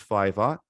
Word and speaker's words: Fiverr: So there's a website called Fiverr, or it's also an app too. Fiverr spelled with a double R.